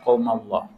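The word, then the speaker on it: قَوْمًا ٱللَّهُ: Itu bacanya qaumanillah apa qaumallah? Kita dengarkan bersama-sama. Qaumanillah, okay?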